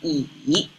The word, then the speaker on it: 乙: This is pronounced as yi.